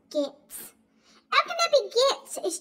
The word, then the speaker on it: Goetz: and go mother said you know how to pronounce that right it's g o e t z mother says is gets Al can be gets